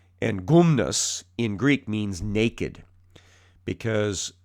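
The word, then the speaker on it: γυμνός: around the the gymnasium gymnasium in greek is pronounced gumnasium and gumnus in greek means naked because the exercises that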